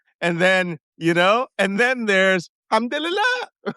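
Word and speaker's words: الحمد لله: Alhamdulillah, when you say it like this, Alhamdulillah, it's real thanks. Or Alhamdulillah, it's surprise, right? Or it's Alhamdulillah. It's total.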